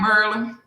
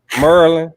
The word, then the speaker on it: Maryland: Maryland. Merlin.